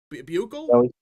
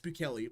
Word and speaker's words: Bukele: Bugle? Bukele. What? Bukele. Bukele. Yeah, it's Bukele. It's a Spanish name.